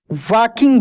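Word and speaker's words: walking: टाइ एंड you came वकिंग बाय डब्लू ए एल के आई एन जी वाकिंग बाय देखिए L silent है यहां पर भी वाक्य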